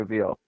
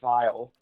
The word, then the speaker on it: Weil: Yeah, I think Simone Weil is Weil the correct pronunciation? Veal? I would say Veal. Right. Because W like E Weil I L. sounds harder. Like it sounds cool to call her Vile.